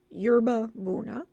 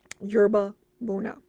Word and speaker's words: yerba buena: a job arranging flowers at the glamorous restaurant yerba buna and embarks on an affair with the married